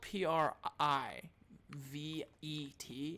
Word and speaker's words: privet: if it's spelled PRI v ET its privet I feel like two green thumbs over here me if it's priv a te private if you disagree with